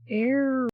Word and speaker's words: Eragon: everybody Welcome to um airon it's spelled like Dragon but with an e instead of a d there's a whole